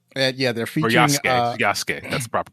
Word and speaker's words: Yasuke: Yeah, they're Or featuring Yasuke. That's the proper pronunciation, right.